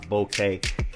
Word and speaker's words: bokeh: It also affects background blur, which is alo also known as bokeh or bokeh.